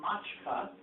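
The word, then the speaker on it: macska: It's actually pronounced mačka, just like mačka in Slovak. But it's, notice it's CS. A CS in this language has a ch sound.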